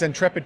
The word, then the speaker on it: Ntrepid: tre PID and is it intrepid calm its intrepid corp calm okay sue rpg-like um alright good